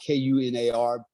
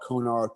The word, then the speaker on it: Kunar: river because i you know it's called it's pronounced k-u-n-a-r some people call it konar kunar or whatever you wanna call it um